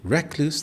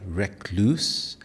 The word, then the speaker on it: recluse: Recluse in British English. Recluse. The stress is on the first syllable. Recluse. In Indian English, depending on region, it may be more like recluse, stressing the second syllable more.